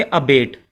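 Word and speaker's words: abate: अबेट, ABAT, इसका उच्चारण करेंगे अबेट।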